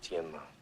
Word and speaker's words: Tianma: The correct pronunciation is Tianma. See how it ended up Tin Man.